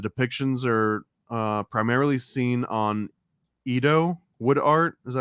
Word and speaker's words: Edo: Shinto, and the depictions are primarily seen on Edo wood art. Is that how you pronounce that?